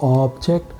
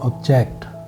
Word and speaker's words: object: So object, you've seen, stretch on the first syllable, it's a noun. Stretch on the second syllable, it's a verb. Samajh gaya? Good. Stretch on the first syllable, object. Stretch on the second syllable, object.